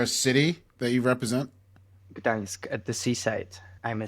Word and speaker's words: Gdańsk: Gdańsk, at the seaside. I'm a seaside guy. He ain't ever going to pronounce that. All right, let's try. Yeah, what? Gdańsk.